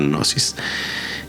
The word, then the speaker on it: gnosis: a mencionar bueno es se escribe G nosis pero no se pronuncia la g solo nosis y es un estado